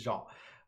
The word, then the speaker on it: Jean: Jean, like denim, or Jean, like the French pronunciation. So it is French. So it is Jean. I usually reference Star Trek, right? Jean-Luc Picard, or Jean Valjean from Les Mis recently.